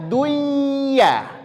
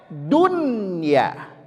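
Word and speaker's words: دنيا: kelihatan dari segi penulisan seharusnya ini kita baca duya betul dari segi penulisan kita baca buyanun tapi tidak membacanya Dunya diizharkan Dunya kemudian bunyan bunyyan qtinwan tinwan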